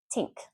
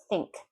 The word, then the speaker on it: think: First one, tink. No, not a word. Think, think, think. Notice my tongue. Think. If I don't put my tongue between my teeth, I'm saying tink.